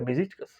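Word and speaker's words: Beşiktaş: É assim que pronuncia, Besíticas.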